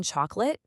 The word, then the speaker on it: chocolate: That middle O in chocolate, it just disappears when we talk.